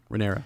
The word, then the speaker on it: Rhaenyra: It was the worst kind of a war between siblings, despite Viserys' unwavering preference for Rhaenyra, or how do you pronounce it? Rhaenyra.